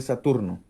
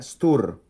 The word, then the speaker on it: Stur: Miren, Tau es la letra de Saturno. Israel Regardi, The Golden Dawn, lo dice. El número caldeo para Saturno es 666. El nombre Saturno en caldeo se pronuncia Stur, o Satur, o Satir.